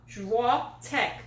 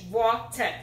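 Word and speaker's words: Świątek: Igor Swiatek. Swiatek, yeah. No, it's not Swiatek. He said it's Swiatek.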